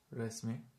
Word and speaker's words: resmi: Resmi, but resmi with a long E means official.